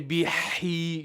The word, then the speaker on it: به: So you're trying to say bihi, you're changing from ha to ha.